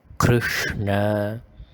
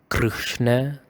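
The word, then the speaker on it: कृष्ण: So you grind the R. You make it a little bit more rough, like in this example, Krishna. The R, it is a R, like a vibrative and a grinding kind of sound.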